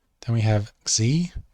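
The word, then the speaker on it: ξῖ: Then we have Xi, which is either an X or a KS sort of sound. X. So Xi.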